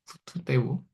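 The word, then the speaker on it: τοῦ θεοῦ: 헬라어로 바실레이아 투 태우라는 말이거든요 혹은 뭐 정확한 발음은 때우는데 투 때우 투는 이제 관사 때우 하나님이란 뜻이에요 원래는 테오스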